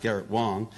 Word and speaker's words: Garrett Wang: And Garrett Wang, who it's actually pronounced Garrett Wang, started in theater while majoring in Asian studies at UCLA.